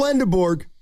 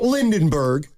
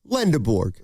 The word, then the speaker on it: Lendeborg: There's no second N. It's not Lindenburgg. It's not Lindenborg. Easy. Yeah. Lenderborg.